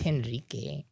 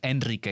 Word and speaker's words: Enrique: oh I know yeah it's henrique enri but it's Enrique because remember Spanish the H is silent so sometimes it get